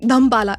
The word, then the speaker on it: Dhammapala: And how we pronounce it like Dhampala. It's not Dhammapala, it's Dhampala.